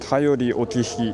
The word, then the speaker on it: 便り置き碑: 今ジェミニに読ませましたら、頼り沖碑と読むそうです。